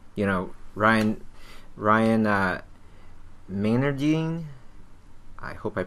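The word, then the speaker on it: Meinerding: Miner Dean it should I believe it should be called Miner Dean um excuse me if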